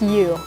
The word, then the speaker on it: Yu: So now if you don't know what Spelunky is an indie platformer game, and it was created by Derek Yu. I believe that's how you pronounce his last name, Y-U.